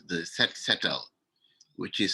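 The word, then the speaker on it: Set Setal: we had a movement in senegal called the set settle which is spelled s e t like i said s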